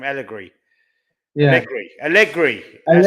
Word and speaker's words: Allegri: Allegri.